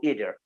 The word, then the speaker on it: either: are okay yes okay sometimes my heroes say either or either so which is a great one sometimes both are okay either is okay either is okay tomato